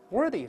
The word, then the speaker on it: worth: 那么 worth 是介词， worthy 是形容词，我们把这两个词分别读一下。